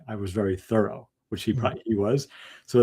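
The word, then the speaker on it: Thoreau: last syllable and uh there's evidence that he pronounced his name with an accent on the first syllable so it sounds like thorough like I was very thorough which he he was.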